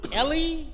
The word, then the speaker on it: Eli: Is it Ellie or Eli? It is spelled Eli, but pronounced Ellie. Because when your mother brings